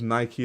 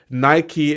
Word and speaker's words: Nike: The American hegemony pronunciation of Nike. Just no, I pronounce Nike the way it's supposed to be pronounced, in the sense that Nike is named after the Greek goddess, right? So it's pronounced Nike.